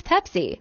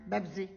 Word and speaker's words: Pepsi: How will my Arab mom pronounce Pepsi? Bebsy. Pepsi. Bebsy. Pepsi. Yes, Bebsy. Mom, look at the can, look at the letters. It's Pepsi. Yes, it's Bebsy. Mom, with a P, not a B. It's Pepsi.